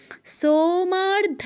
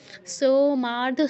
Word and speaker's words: সোমার্ধ: দ্রুত উচ্চারণ করতে হবে সোমার্ধ ধারিণে সোতে মাতে ধাতে নেতে এই চারটা জায়গায় আমাদের দীর্ঘ করতে হবে সোমার্ধ ধারিণে সোমার্ধ সুমার্ধ সমার্ধ এরকম কেউ বলবো না সোমার্ধ ধারিণী আমরা যেটা